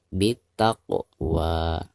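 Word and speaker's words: بالتقوى: Perhatikan huruf qaf. Huruf qaf berharakat sukun sekaligus posisinya ada di tengah-tengah bacaan. Maka dihukumi qalqalah sugro dan dibacanya harus dipantulkan dengan suara pantulan yang tipis. Bittaqwa.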